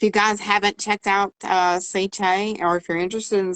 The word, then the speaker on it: Sicce: It's pronounced, folks, Sicce.